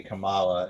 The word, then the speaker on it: Kamala: they say they say Kamala in the show yeah and um different emphasis on different letter and um and she's